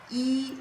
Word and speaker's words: 壹: It pronounced as E which means one.